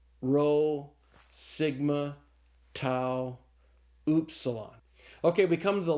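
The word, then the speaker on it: upsilon: After the towel comes oopsilon. And you got to I don't remember my German teacher saying this in German class. You got to kind of stick your lips out to say this properly because the oopsilon is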